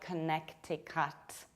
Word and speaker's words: Connecticut: This state is not pronounced like Connecticut. You don't pronounce cut like cut, and you don't pronounce connect like connect. You have to reduce the first syllable, k, not ko, k. Then you stress ne, Connecticut, and you pronounce T like a strong American T, which is something in between d and r.